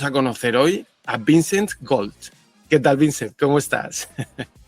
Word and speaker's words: Gault: las francés puedes ver se pronuncia Go Aunque hay un a un u un l un t Entonces no hay O